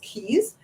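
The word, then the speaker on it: cayes: C A ye s differ but it's still pronounced keys they have a lot of them and the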